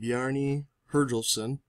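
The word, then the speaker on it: Bjarni Herjólfsson: Some people say it was Christopher Columbus, but the History Channel says that a fellow named Bjarni Herjolfsson, that is the correct pronunciation, first saw North America around the 11th century after he was blown off course while sailing across the sea.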